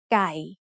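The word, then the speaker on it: ไก่: So we pronounce this word as guy.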